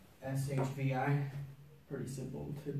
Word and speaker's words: shvi: video This is called an Armenian sh it's shbi pretty simple to pronounce too it's kind of like a Penny